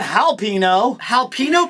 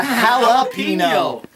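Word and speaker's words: jalapeño: other a no there's it's not jino halpino Peppers it's a jalapeno so when you've gotten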